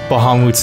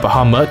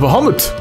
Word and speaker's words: Bahamut: I'm trying to pronounce Bahamut's name correct. It's not Bahamut, it's Bahamut or something.